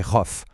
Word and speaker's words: rough: On va en grouper 2 d'un coup, tough et rough. Pourquoi? Parce qu'ils riment, c'est parfait. Dans ces 2 cas, le OU-JH fait un son off.